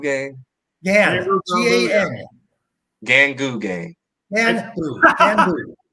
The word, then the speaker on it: gganbu: Pronounce me if I'm saying this wrong. The gganbu gang. G-A-N. gganbu gang.